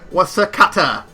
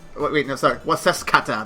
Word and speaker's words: Waseskata: And I am Wasakata. Waseskata. There we go. I gotta say it right next time.